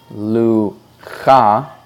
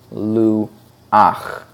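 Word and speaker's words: לוח: again the first word while you might think it should be pronounced Luka it is nevertheless pronounced Lou och that last cut and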